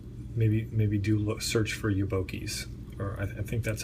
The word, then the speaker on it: Yobokies: I I would recommend Googling Yoki and that's spelled Seiko boy backwards he is a guy